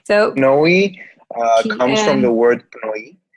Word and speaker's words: PNOE: So PNOE comes from the word PNOE, which in Greek means breath.